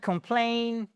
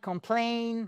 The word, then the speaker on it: complain: Can't complain. Can't complain. Complain. The stress is on the second syllable.